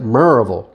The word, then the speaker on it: Maryville: Knoxville Tennessee and I went over to the Maryville or they pronounce it Maryville Tennessee area we actually had a home there